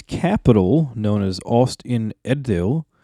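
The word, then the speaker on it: Ost-in-Edhil: Edith Austin eddale oh I always have pronoun uh issues pronouncing that that DH sound yeah that's DH because it's a Germanic word or letter that we don't use in English Danny was trying to help instruct me on how to pronounce that because it's almost like a team yeah or the Yeah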